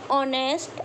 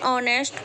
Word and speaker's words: honest: Example, an, honest, and hour. Here, hour and honest both words begin with consonant word. Here H is silent, so we use an before them.